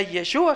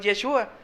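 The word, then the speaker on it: ישוע: Dice que la menorá tenía siete brazos, sí, y el nombre del Eterno en hebreo, el nombre de Jesús en hebreo se pronuncia Yeshua. Jesús en hebreo es Yeshua, sí.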